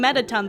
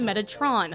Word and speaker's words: Metatron: are I was just seeing metaton the whole time but it's actually Metatron so that's one thing